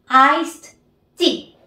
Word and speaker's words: iced tea: Como ven aquí, al final de ice hay una T, significa que juntamos esta E, T, y tenemos la T como consecuencia en lo que sería la pronunciación nuestra, ¿verdad? Sería como una T en el español.